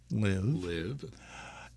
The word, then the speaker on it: LIV: starting with its name which when pronounced rhymes with give live but is actually the